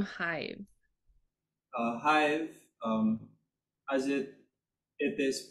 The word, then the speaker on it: HYV: is the meaning of the name Hive uh Hive um as it it is pronounced it came from Hive like the Beehive